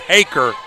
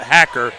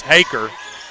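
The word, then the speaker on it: Haecker: here next to me it's haaker not hacker it's spelled h a e c k r so I'm sure if you spell that out it kind of sounds like it would be hacker but it's haer is what I was told so so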